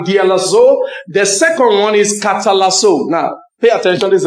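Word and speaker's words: καταλλάσσω: The second one is katalazo. Now, pay attention, this is important, all right? Now, it's spelled K-A-T-A. Double L A double S O K H T A double L A double S O Catalasso.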